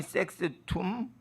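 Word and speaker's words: sextum: 공의회가 있는데 거기에 퀸이 섹스툼 공의회가 있어요. 뭐 식스를 섹스라고 그랬어요. 그러니까 발음 조심하셔야 돼. 라틴어를 할 때 섹스는 식스가 옛날 발음이에요. 근데 섹스가 남녀 구별했으니까 식스로 바꾼 거예요. 원래는 섹스였어요. 섹스툼.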